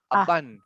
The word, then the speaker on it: abundant: We don't pronounce U, right? It's pronounced like A. Abundant.